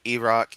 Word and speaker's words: Iraq: Like Iraq, Iran, not I.